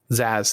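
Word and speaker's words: Zsasz: was that guy's name some of the z zeiss zaizaz how you pronounce that uh levy what's up the batman bad guy with the z his eyes mr mr zazz zazz that's it oh i heard you talking about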